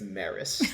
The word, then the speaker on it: Maurice: Um, you know, in America we actually spell it without the U, and it's Maris.